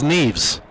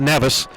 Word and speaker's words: Neves: I'm going to repronounce that as Neves, Yeah. not Nevis. We have a photographer, Alan Neves. I don't think it's any relation. So I hope it's Neves and not Nevis.